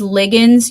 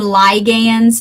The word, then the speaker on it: ligand: to one or more I call these ligands you can also call them ligands that is appropriate pronunciation what is a ligand